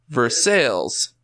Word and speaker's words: Versailles: It's spelt like the giant manor in France, Versailles. Mm-hmm. It's pronounced Versailles. Uh-huh.